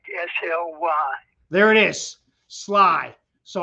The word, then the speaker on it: Sligh: his name is sherman slay am i right sherman no it's sly like l-i-g-h pronounced like s-l-y there it is sly